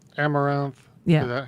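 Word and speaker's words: Amouranth: Like Amaranth, Yeah.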